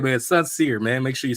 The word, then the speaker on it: Soncier: So think of sincere, but Soncier. Yeah, gotcha. Totally different word.